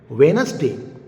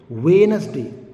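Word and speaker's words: Wednesday: i d a y Wes day Wes day is that clear here also D will be silenced another example hand cief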